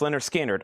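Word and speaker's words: Lynyrd Skynyrd: Pronounced Leonard Skinnard.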